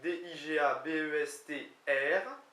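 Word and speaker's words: digabestr: Digabes s'écrit D-I-G-A-B-E-S-T-R, d'accord, mais se prononce sans le R, en tout cas peut-être un peu le T.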